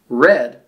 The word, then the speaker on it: red: Red rhymes with lead. But read and lead don't rhyme.